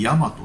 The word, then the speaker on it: 神真都: ヤマト Q ですね、神様の、真実の都って書いてヤマトって読むらしいです。